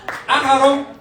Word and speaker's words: Axarob: Axarob, it rhymes with rope, because